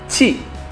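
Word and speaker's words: チ: Ta, Si, ya, jadi bukan dibacanya Ti ya, bukan, tapi dibacanya Ci. Ya, dibacanya Ci.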